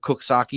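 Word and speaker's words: Coxsackie: Have you ever heard of Cooksaki, New York, Bob? Yes. Now, have you ever seen how Cooksaki is spelled? Yep. Does it sound like it says No.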